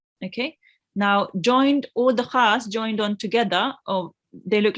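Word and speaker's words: خ: Then we had Kha. Kha is also a thick letter, which means when you pronounce it, you have to round your mouth a bit.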